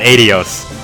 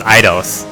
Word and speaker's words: Idos: We've got Adios. Actually, it's Idos. That's how you're supposed to pronounce her name, but I refuse. Because I want to be a unique snowflake. I'm going to continue to say Adios.